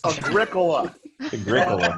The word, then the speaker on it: Agricola: you off the channel it's agricola whatever you can't stop me i do it all day long i mispronounce words just to get that one person in chat to say something i actually had someone tell me it's agree cola like okay then you